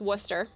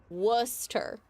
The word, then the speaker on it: Worcester: It's Worcester. No, not W. Not like Worers. Just Worcester. Worer. Worcester. Telling you that's how this is pronounced. Worcester. Don't look at the letters. Just know it.